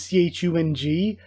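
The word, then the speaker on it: Cheon: in English and sometimes c-h-u-n-g but here I'm assuming it's the same characters for this guy but they're spelling it c-h-e-o-n so it's still Chung uh probably so again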